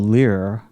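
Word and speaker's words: Lyr: app that I'm currently using is one called Lear L yr it's made by a company in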